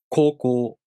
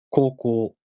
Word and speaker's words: 高校: For example, 高校. As I said, the O long vowel is represented by U. 高校.